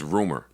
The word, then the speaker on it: RMR: So this is a group called RMR, which I just learned was pronounced rumor.